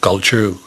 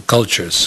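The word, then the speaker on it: Kulchur: pond a guide to cultures uh guide to culture it's spelled k-u-l-c-h-u-r you may want to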